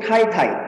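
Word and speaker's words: 太太: Istri ada sebutan selain cice, yaitu tai-tai. T-A-I, T-A-I. Jangan kamu baca tai-tai ya. Tai-tai. Jadi bacanya itu harus dia ada hanya. Harus ada hanya. T-H-A-I waktu dibaca.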